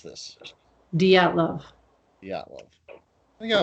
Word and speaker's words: Dyatlov: All right, how do you pronounce this? Dyatlov.